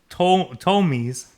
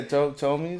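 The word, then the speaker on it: Ptolemies: So it says due to inbreeding amongst the Tomies. It has a P. I'm assuming the P is silent. Yeah, Tomies.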